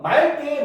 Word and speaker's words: 맑게: 그렇지, 얘는 맑게 요렇게 발음하는 게 올바른 발음입니다. 그렇죠? 왜? 제일 마지막 예외에 있었잖아요. 그렇죠? 용언의 어간 끝소리 리을 기역은 뭡니까? 기역으로 시작하는 어미 앞에서 리을로 발음한다라고 했잖아요. 그렇죠? 그러니까 얘는 리을이 원래는 막다가 맞지만, 그렇죠? 기역으로 시작하는 어미가 왔으니까 이 경우는 맑게가 맞겠죠.